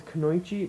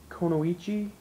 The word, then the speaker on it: kunoichi: I always thought it was Kunoichi, but it's Konoichi, meaning it's a female ninja.